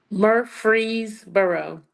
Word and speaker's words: Murfreesboro: Pronounce it for me. Murfreesboro.